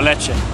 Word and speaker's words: Lecce: Lecce. Yeah? Is that good? Lecce. Ah, Lecce.